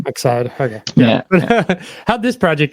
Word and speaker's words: Excide: Am I pronouncing that right? Yeah. I was going to say, we hear like the emphasis different, like people say it differently every now and then, but yeah, Excide.